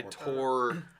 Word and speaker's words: Thor: I tore. I tore a piece Did of you paper. have you guys heard of like when people's names are spelled Thor but it's pronounced Tor?